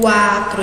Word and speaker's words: quatro: Eu trouxe aqui exemplos para vocês, ó, como a palavra quatro, né, ó, quatro, eu pronunciei U.